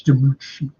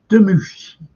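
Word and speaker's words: DiMucci: People say Dion Demucci, but it's Demucci. Demucci. That's how. Proper Italians, you see.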